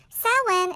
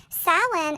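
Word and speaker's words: Samhain: ancient Celtic festival called solemn you might have thought I mispronounced it but Solon is a Gaelic word that is spelt nothing like it is pronounced sau-lan is a pagan religious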